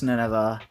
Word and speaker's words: Nineveh: It's Nineveh, isn't it? Yes, it is. It's Nineveh. I've been saying it wrong.